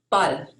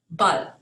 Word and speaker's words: Ball: So the English word ball, spelled the same in German, is pronounced Ball. Ball.